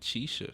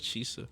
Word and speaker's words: Chisa: He pronounces it Chisa. I thought it was Chisa.